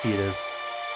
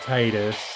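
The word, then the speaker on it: Tidus: person's so for tetus yes it is technically pronounced tetus everybody grew up pronouncing it Titus uh anyways so tetus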